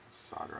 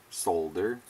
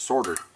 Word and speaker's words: solder: Solder on the negative. Solder, as the rest of the world says. Us Americans pronounce things funny, don't we?